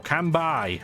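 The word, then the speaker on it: Kanbei: leader of gold Comet cambei or kambai I guess not spelled that way but that's how it's pronounced so this track absolutely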